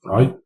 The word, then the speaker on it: trie: Tries, pronounced try, is a tree that specializes in storing data that can be represented as a collection, such as English words.